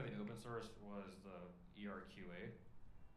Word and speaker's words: ERQA: The only thing on the open source was the ERQA. It's not pronounced Erica.